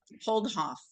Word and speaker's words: Holdhoff: name of that doctor the uh he he pronounces his first name mattius holdhoff h o l d h FF at John